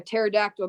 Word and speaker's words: pterodactyl: can't you hear a pterodactyl go to the bathroom because the P is silent there's a pee and